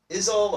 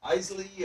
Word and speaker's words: isle: time, they are a little unsure how to pronounce it. It looks a little like Isle or Isley or something like that.